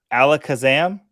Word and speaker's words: Alakazam: It's just an hour straight of you trying to pronounce Pokemon. Alakazam?